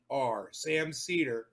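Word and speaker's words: Sam Seder: Sam Cedar, just like it's pronounced. It's spelled just like it's pronounced.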